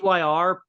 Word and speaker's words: Tyr: It's pronounced Tyr, and it's a swimsuit manufacturer.